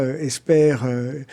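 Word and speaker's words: Hesper: C'est une signification, je le précise, Esper, ça s'écrit H-E-S-P-E-R, c'est pas Esper.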